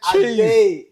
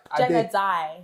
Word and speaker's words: Adae: We got Adae in Come the on. house. Thank Come you. Come on. What do you say? Is it, did we pronounce it right? Adae. Adae. Yeah.